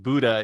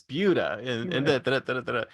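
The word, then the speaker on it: Buda: four or five different places like do not pronounce it Buddha it's bua and I thought okay I'll remember that I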